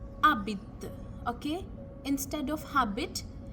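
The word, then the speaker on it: habite: H because in front we don't pronounce the h Abit okay instead of habit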